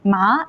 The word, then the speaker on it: 麻: Here, ma is the first tone and means moon, and ma is the second tone and it means flex, and ma is third tone and it means horse, and ma is fourth tone and it means to scold.